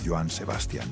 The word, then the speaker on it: Joan Sebastian: Así nació Joan Sebastián, aunque los locutores de radio y el público terminarían pronunciándolo Joan Sebastian sin acento y así se quedaría para siempre.